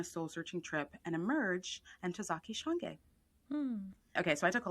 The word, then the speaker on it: Ntozake Shange: Africa on a soularching trip and emerge and Tazaki Shang.